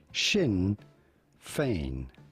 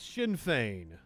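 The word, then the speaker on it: Sinn Féin: northern ireland we are looking at how to pronounce shin fein infection in vain shin in vain rb was very close shin fein well shin feins michelle o'neal will be the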